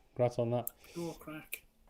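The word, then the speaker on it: craic: Bran with the little affiliate code with Pure Crack. Congrats on that. Pure crack.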